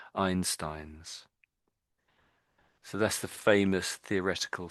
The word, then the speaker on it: Einstein's: So we just missed the s the the plural or the the possessive s. So it's Einstein. Einstein. Einstein. Try it again. I Einstein. Yeah. Yeah, that's it. That's it. Einstein's.